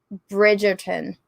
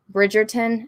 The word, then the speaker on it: Bridgerton: i couldn't stand it bridgeton bridgerton is that how you say it yeah i did not like